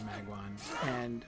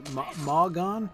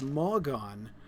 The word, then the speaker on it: Malgon: I'm just afraid you're kind of letting yourself go here, Magwan. Or Malgon? I've been saying your name wrong. It's Malgon.